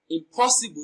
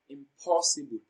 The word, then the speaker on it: impossible: result in the wrong placement of stress now impossible is pronounced and broken down into syllables as impossible impossible it is very impossible the second syllable